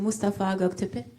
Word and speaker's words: Mustafa Göktepe: Mustafa Göktepe. Have I pronounced your name correctly?